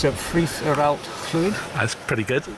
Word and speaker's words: Ffridd yr Allt-lwyd: I hope Welsh listeners don't take too much notice of my pronunciation. It's Ffridd or Allt-lwyd.